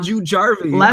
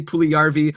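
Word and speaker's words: Puljujärvi: about Jesse Puli and I pronounced it jarvi a whole bunch of times last week you were talking about Jessie pju jarvy okay last we I was talk about Jessie pju jarvy but I should have been talking about Jessie pulvy we got a review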